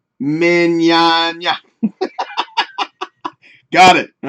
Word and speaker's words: Mignogna: Sam says, pronounce it like you would lasagna. Lasagna. Mignogna.